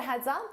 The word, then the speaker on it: heads up: So notice that S on heads when I combine it with my vowel sound in up, I use a Z to combine that together and it sounds like one word.